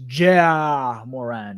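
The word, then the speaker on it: Ja Morant: uh it's for name it's pronounced ja moran all right thank you man because i like it jay moran you don't like it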